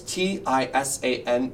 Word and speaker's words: Tisane: So it's Tisane, yes. Pronounced Tisan.